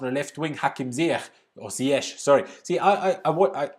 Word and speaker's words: Ziyech: German and Austrian TV use the Dutch pronunciation of his name, which is Ziyech.